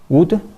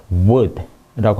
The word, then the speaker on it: wood: wood? 그랬거든요. 그래서 딱 거기서 지적을 하더라고요. 아니라고. 그게 아니래요. 네 발음 항상 할 때 고점이 이상하다라고 하는데 그게 아니고 wood라고 합니다.